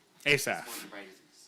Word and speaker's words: Asaph: Just to let you know, the name that you're mispronouncing is Asaph. Asaph.